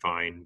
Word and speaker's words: Vejen: the pronunciation, but Vien, Vejen, I think they've been saying it Vine, but yeah, I feel Vine.